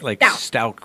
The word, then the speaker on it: Stauch: Yeah, Latisha Stauch, like Stauch with a K. Stauch.